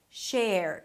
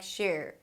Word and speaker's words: share: It's a 'sh' sound then the 'are' as in 'dare' - "share". You wanna make sure that the 'are' sound is clean so it doesn't sound like "sher" "sher". Share.